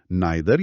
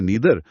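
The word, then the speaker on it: neither: आई ई नहीं नहीं आई उच्चारण अलग-अलग हो सकता है। नाइदर या नीदर पर spelling N ई आई टी एच ई आर ही रहती है।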